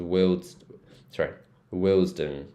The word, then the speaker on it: Willesden: This one's Willesden, Willesden.